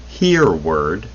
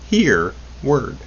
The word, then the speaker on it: Hereward: is entitled the nature of dreams written by hear word carrington phd and his first name is spelled h-e-r-e-w-a-r-d hear word your word this is part three and we